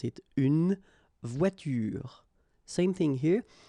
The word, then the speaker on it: voiture: But then you don't insist on it, so clearly you don't pronounce it une voiture. Same thing here. The last thing that you will hear is this r, voiture, voiture.